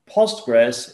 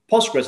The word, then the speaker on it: Postgres: started that way so postgres means after english or post english now i understand that sometimes pulse press ql it's a bit hard to pronounce so it's also accepted if